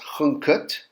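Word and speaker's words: ḥnqt: a few weeks ago that's pronounced hungut which is the flax the hill the loaf and then the determinative for beer but if you remember this is one of those odd words that doesn't follow all of the rules with and it's going to have actually a silent letter in it that's not seen how do you know this you just remember it so it's got a silent n in there it's not written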